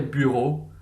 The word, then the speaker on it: bureaux: x on the end, but you don't pronounce that x. So des bureaux, you'll note, is some offices, but you won't hear that x sound.